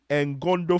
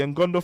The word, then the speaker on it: Ngondo: Yes, so in Cameroon we have the Ngondo festival of the Sawa people. So, the Ngondo festival, that's the n g o n d o.